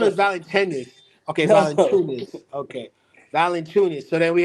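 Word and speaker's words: Valančiūnas: Valanciunas. Oh, Valanciunas. Okay, Yeah. Valanciunas. I thought it was Valanciunas. Okay, No. Valanciunas.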